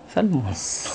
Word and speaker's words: salmon: In English, sinigang na salmon. Salmon head. Silent L daw yan eh.